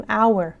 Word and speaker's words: hour: ولی اینجا ما این H رو نمیخونیم، میگیم hour ساعت، یه ساعت، an hour. پس اینجا چون چیزی که میشنویم صداست hour، حتما باید باش and رو استفاده کنیم.